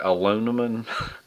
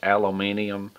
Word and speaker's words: aluminum: I pronounce it aluminum. Everybody says it's pronounced a different way. And if you're from England or the UK, it's aluminium.